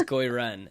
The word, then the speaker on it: Gui Ren: So yeah, what is Goi Ren? And so if anyone's wondering, it's spelled Gui space Ren, at least the English spelling.